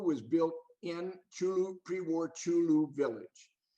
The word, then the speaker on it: Chulu: Now, Camp Chulu was built in Chulu, pre-war Chulu village. In the books, you will see it written as Churro with an R O simply because it was mispronounced by the Japanese.